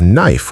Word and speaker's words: knife: This is why in English you have knife with a silent K because in Old English it was pronounced with a K sound.